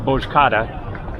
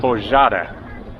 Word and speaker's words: Bozcaada: It's not Bozcaada, Bozcaada. Kind of like that. I'm sure I'm not getting it exactly right.